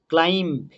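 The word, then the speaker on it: climb: ক্লাইম্ব, ক্লাইম্ব, বি কিন্তু বলবো না, ক্লাইম্ব, CLIM, ক্লাইম্ব।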